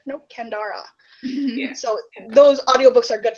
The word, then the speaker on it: Kendare: And I was like, oh, it's got a 3rd syllable. Okay, not Kendara, Kendara.